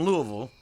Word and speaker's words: Louisville: But I've been told tonight that you actually drove up from Louisville. Yes, sir. Am I saying it right? Like, pretend you have just a whole bunch of cotton in your mouth.